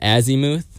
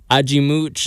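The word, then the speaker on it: Azymuth: Hey, Aimooch, which I was calling it Azimuth. Yeah, I've been calling it Azimuth. Maybe that's the Golden Valley pronunciation. Yeah, I don't speak Portuguese, but Aimoot. Ajimooch is how they were pronouncing it on stage. And uh I'm gonna say it how they say it.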